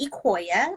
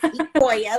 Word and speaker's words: Ecouia: So my name is Ecouia, like the sequoia tree without the S, because people are always like, how do you pronounce that when they see it? So it's Ecouia, like a sequoia tree.